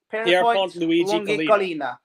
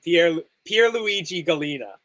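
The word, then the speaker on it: Pierluigi Collina: Right, let's try and pronounce that. Pierpont Luigi Galina. Yeah, I was gonna say Pierpont. I don't think his name. Pierluigi Galina.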